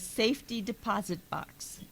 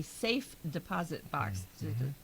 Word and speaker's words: safe deposit box: So, the next one is safety deposit box. Oh, Yeah, yes. the phrase referring to a box in which valuables are stored is a safe deposit box. keeps your stuff safe, Mm-hmm. it's not a safety deposit.